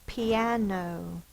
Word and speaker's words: piano: The first one is piano. P-N-O. P is the E sound. It's the I that says the E sound. Again, it's the long sound because it is an open syllable.